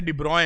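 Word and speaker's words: de Broglie: अब आपको ये पता होगा कि डी ब्रॉय वेवलेंथ जो होती है, लिखते स्पेलिंग अलग है, पढ़ते डी ब्रॉय हैं।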